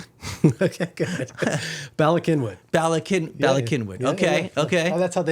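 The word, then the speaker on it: Bala Cynwyd: I mean, I'll pronounce it like it sounds, but Balasinwood. Okay, good. Balakinwood.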